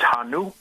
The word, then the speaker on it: Hannu: Um uh you pronounce it well. It's Hanu and uh and uh uh the product is called Flameator.